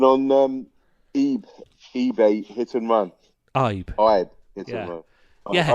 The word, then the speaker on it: Ibe: I've never ever been able to pronounce that. Ibe. I know it's a bit difficult for you. 3 letters, it's a bit much for you. 3 letters, yeah. Yeah, one syllable.